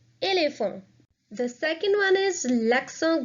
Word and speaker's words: éléphant: Now again, there are 2 accents on 2 E's. So the pronunciation will be éléphant, éléphant.